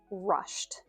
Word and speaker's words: rushed: Again, think T because we know it has the T ending. Rush to the station. Rush to the station. It may still even just sound like rush to the station to you, but I am saying rushed. And it will come across that I'm speaking in the past tense because at least my intention is to have this t ending.